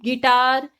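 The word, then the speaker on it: guitar: U के बाद कोई वॉवल है तो U साइलेंट रहेगा। Like guide, गिटार, गार्ड, गिल्ट या फिर बिस्किट, इन सब में वॉवल्स यूज हो रहे हैं। लाइक EIOU यूज हो रहा है तो हम इसमें साइलेंट रखेंगे U को।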